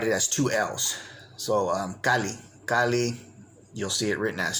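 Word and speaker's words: calli: and the absolute suffix, with the understanding that it's pronounced as simply one L.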